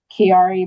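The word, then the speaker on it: Chiari: It's um Kiari malf for. Let me spell it for you.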